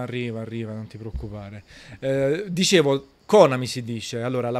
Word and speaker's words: Konami: Però si dice Konami, la pronuncia internazionale, ma va bene Konami, sti cazzi proprio, sti